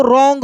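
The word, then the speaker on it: wrong: आर ओ एन जी तो इसमें डब्ल्यू जो है ये साइलेंट है इसको रॉन्ग पढ़ेंगे क्या पढ़ेंगे रॉन्ग ऐसे रॉन्ग साइट एस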